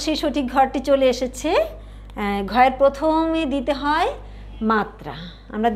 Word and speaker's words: ঘ: সবাই একটু বলো তো সুন্দর করে, ঘ। এই যে আমরা উচ্চারণ করছি এটা কিন্তু, এটাও একটু ধাক্কা দিয়ে বলতে হয়, এটার সাথে একটু হ উচ্চারণ আসবে, ঘ।